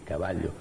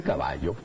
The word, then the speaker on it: caballo: Caballo, no, porque era la doble L, sonaba así, L-Y, caballo. Ya no, todo el mundo dice caballo, caballo igualito que si fuera Y.